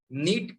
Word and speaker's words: Knit: नीट KNIT, इसमें के silent है, ध्यान रखिएगा।